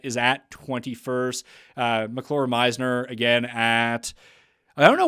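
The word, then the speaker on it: Meissner: there Matty Schmidt is at 21st uh MCL Meisner again at I don't know why I want to read it as messenger every time I see it I I just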